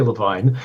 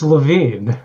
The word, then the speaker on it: Lavine: Don't say Levine. It's It's Lavine.